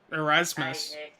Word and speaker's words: Erasmus: Not Easmes. Neil Imams. Erasmus. Yeah, that's Erasmus.